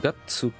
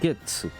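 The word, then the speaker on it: がつ: Qu'on prononce. Au-dessus. Gatsu. Et pas. Getsu. C'est Gatsu là.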